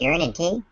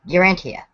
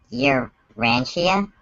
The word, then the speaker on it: Urantia: doing for cult week cult about urine and te no no no it's Urantia um sorry wait arania I've got a pronunciation note here you're Rania yeah so it's not about